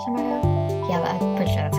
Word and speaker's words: Chimecho: her with a shco so you say it shco yeah pretty sure that's